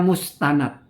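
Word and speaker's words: مستند: berpegang ini jadi lucu mestinya yang benar kalau redaksi seperti itu dibacanya mustanad yaitu sandarannya warubama ya dan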